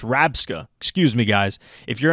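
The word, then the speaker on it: Rabsca: It's not Reller. It's Rabska.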